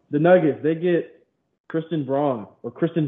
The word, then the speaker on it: Braun: that's cool um the nuggets they get kristen braun or kristen brown that's how it's apparently pronounced that's a good pick really want to